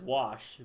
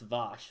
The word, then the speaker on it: Vosh: He says wash, but it's Vosh with a V.